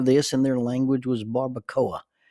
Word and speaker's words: barbacoa: the word for this in their language was barbacoa.